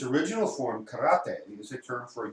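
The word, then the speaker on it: 唐: You had Okinawa instructors go to China and train, and so over time, there's a Chinese character pronounced kara, which means Chinese, combined with te, and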